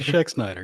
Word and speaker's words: Schexnayder: because yikes but my guess tonight is schexnider that's pretty good Jeremy thank you you're Shaq Snyder you're right hey I did okay you gotta remember the a is silent but oh kind of but how you